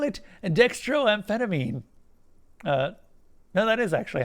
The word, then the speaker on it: dextroamphetamine: what you're looking for they call it and dextroamphetamine no that is actually how you say it